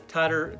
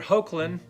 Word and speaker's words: Hoechlin: I felt like I had enough Superman stories, and I really didn't care for Tyler Hoechlin. Is that how you say his name? Hoechlin.